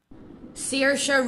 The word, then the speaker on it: Saoirse: But let's hear the name the way it's pronounced. Hold on. Saoirse Ronan.